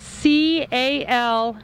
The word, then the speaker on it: Calmoutier: So Calmoutier is not spelled how it is pronounced.